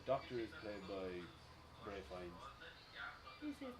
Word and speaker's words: Fiennes: I never knew how to pronounce it. Fiennes. Yeah, Fiennes.